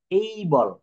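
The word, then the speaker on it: able: এই জায়গাটা বলতাম হচ্ছে এ এটা কিন্তু আমরা এ বলে আসছি সবদিন কিন্তু এটা কি আসলে কি এ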